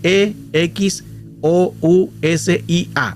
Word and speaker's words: exousia: Se escribe e x o u s i a.